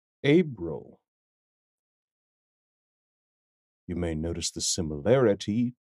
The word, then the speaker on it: Abril: Latin origin significant to Roman mythology it is pronounced abil abil you may notice the similarity to the word